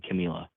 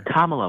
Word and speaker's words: Kamala: I just like how he's pro-life and more pro-life than Camila. That's called a microaggression. Not pronouncing her name right? I don't know. Be better. Kamala, whatever.